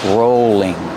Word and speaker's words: rolling: Use a long O sound for row, rolling. And the L is between vowels, so it's a light L.